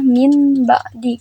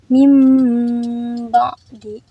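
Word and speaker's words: مِن بَعْدِ: maka berubah menjadi mim harusnya kan kalau misalkan tidak ada mim dibacanya Min ba'di karena ada huruf tanwin bertemu huruf ba maka dibacanya seperti mim mim ba'di nurum Baiti seperti itu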